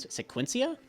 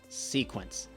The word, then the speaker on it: Sequence: to save his life it's the fiend Smith or fiend Smith sequence sequence maybe I'm pronouncing it wrong but i c s e q u e n c is spell sequence not sequencia drives me nuts anyway